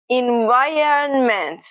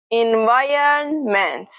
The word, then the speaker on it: environment: But in fact, what happens is that the vowel is actually pronounced before the R. Listen again. Environment, environment.